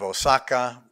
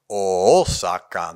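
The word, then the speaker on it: 逢坂: It's short, one syllable, but in old Japanese, the town of Osaka was pronounced with a double O, so it really even brings that dark O out even stronger. Osaka no seki.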